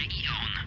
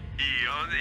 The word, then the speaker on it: Aeon: Świat jest w takim stanie, że program Aeon jest... Aeon. Słucham? Tylko wymawia się Aeon. Aeon jak Igor.